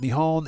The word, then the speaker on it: Nihon: Cody says, "Earlier, I found out that Nihon and Nepon are acceptable uh ways of calling of saying Japan." Yes, Cody, that is correct. That is correct. Uh both pronunciations are 100% correct.